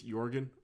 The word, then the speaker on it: Jorgen: - names Jorgen and yes the correct pronunciation is Jurgen I'm gonna call him Jorgen oh because that's just